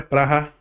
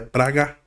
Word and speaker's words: Praha: E agora a gente vai pro pote 3, que tem Slavia Praha. Slavia Praga, né? Tem as duas pronúncias.